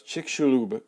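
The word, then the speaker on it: Chicxulub: the mirror once twice that X it looks like CH slob or something that X is kind of like an sh sound all right so it's chick shulu crater which once you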